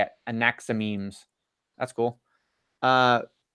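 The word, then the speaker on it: Anaximenes: Anaximemes.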